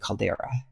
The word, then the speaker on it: caldera: know I want to call it Calderon Caldera I you know what it is because I've read about this stuff and I just sort of skipped over the word and I never really learned pronunciation for it and then it was only recently that I heard people talking about it and they said Caldera so that's why so